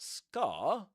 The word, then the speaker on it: scar: So, by the look of that scar, you must be Harry Potter, right? They don't pronounce the R at the end of scar.